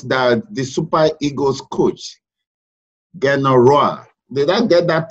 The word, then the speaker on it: Gernot Rohr: Report just reached us that the Super Eagles coach, Gernot Rohr. Did I get that pronunciation correct? Gernot Rohr. Gernot Rohr, yeah.